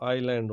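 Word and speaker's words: island: और एल, ठीक है, तो आईलैंड हो गया। तो यहाँ पे एस का प्रोनाउंसिएशन नहीं करेंगे, ठीक है।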